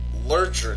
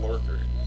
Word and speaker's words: Lurcher: because of the vehicle's name, that part is pronounced Stein, because it's like German. However, I haven't bought the Lurker. Lurcher, not Lurker.